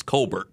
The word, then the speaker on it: Colbert: keep looking but you you pronounce it like like it looks Colbert so very good I